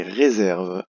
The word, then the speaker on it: réserve: Et réserve, on avait parlé de l'accent ici sur le E, le S qui se prononce Z parce qu'il est entre deux voyelles, et ici la lettre